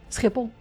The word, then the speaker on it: Schiphol: Schiphol. It's a G sound. So CH is a G sound, and so is just a general G.